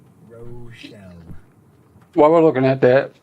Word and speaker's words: Rochelle: Like one of the most infamous Illinois 108 in history, Rochelle. Rochelle.